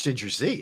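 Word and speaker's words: Ginger Zee: I think it's Ginger Z, isn't it? I'm not disputing it, but it's spelled G-E-E.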